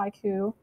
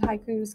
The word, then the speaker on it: twaiku: poetry is called a taiku and that is three lines and 17 syllables that's like a high q but it also limits